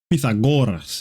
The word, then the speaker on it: Pythagoras: Socrates, Pythagoras is actually how you pronounce it, but I don't trip.